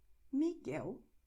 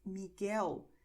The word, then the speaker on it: Miguel: And in GUE, GUI, the letter U is silent, so it's going to be written but not pronounced.